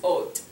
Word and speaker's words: haute: Now, when we're describing something, when this is used as an adjective, sometimes it'll be with an E at the end, and then it's pronounced haute.